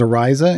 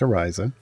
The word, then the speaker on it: Ariza: But yeah, Christina Ariel is Ariza in game. Orisha. Yes, it's pronounced Ariza.